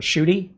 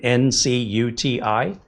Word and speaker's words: Ncuti: Or the Doctor Who, Ncuti, who spells his name N-C-U-T-I. N-C-U-T-I.